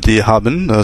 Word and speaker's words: haben: verbe avoir donc ce haben ça ressemble un peu à l'anglaé have et avoir en français donc on prononce bien le HEN comme en anglais is hab toujours le